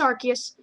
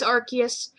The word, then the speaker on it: Arceus: They're like, it's Arceus. It is Arceus.